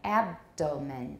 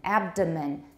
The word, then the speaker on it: abdomen: ahead abdomen that's right abdomen abdomen abdomen abdomen the stress is now on the first syllable the next one some